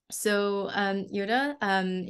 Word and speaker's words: Yiota: For today, our speaker is if I pronounce the name wrong, Yiota, please yeah, that's correct. tell me. Yiota, she started out as the youngest PI at the IMBB fourth in Greece in 2002.